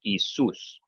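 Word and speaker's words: Ἰησοῦς: So Soos, this Omicron Epsilon, whenever you have an accent on a diphthong, that accent mark will go on top of the second vowel in the diphthong. So this Soos is one syllable, the Omicron Epsilon go together, but the accent mark just goes above the second one. So Isus.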